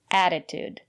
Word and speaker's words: attitude: here's another word attitude the first letter T is pronounced as a fast D because the syllable after the letter T is not stressed add attitude and the second letter T is pronounced as T attitude it's important to have